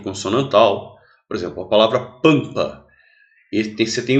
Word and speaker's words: pampa: Porque esse M ele não é pronunciado, é como se fosse um tio. Então, na realidade, pampa tem 5 letras, mas só tem 4 fonemas, que é como se fosse A com tio.